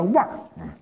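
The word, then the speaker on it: 万儿: 万儿啊，你一看万儿，千万不能读成万儿，就读腕儿啊。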